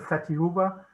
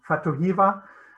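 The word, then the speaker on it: Fatu Hiva: in the island of fatihuba sorry i'm saying it wrong fatohiva there's really um there's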